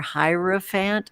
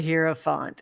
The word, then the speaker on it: hierophant: word is spoken um casey weigh in how do you say it i say it both ways i say it always too super floody with the hero font yeah or the hierophant it doesn't matter but yeah amy um